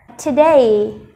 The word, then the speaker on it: today: Và trọng âm rơi vào âm thứ hai, vậy mình sẽ đọc to âm thứ hai nên today.